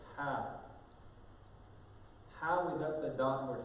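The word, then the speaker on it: ح: So this letter, ha. Ha without the dot we're talking about, okay? The ha without the dot. This comes from the middle of the throat.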